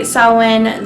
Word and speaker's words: Samhain: favorite so selwyn selwyn which by the way took me forever to figure out how to pronounce and i mean i had to google it because it is spelled nothing like it sounds so are someone and